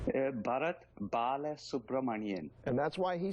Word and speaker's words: Bharat Balasubramanian: Give us the exact pronunciation of your name. Bharat, Balasubramanian.